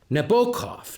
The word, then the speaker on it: Nabokov: but this getting old i think you're pronouncing the name wrong it's nabokov not so proudly hailed er